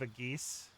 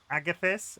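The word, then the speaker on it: Agathys: How do you pronounce that? Agus. Armor of Agus. Sorry, I was pronouncing it wrong. I read it as armor of a geese.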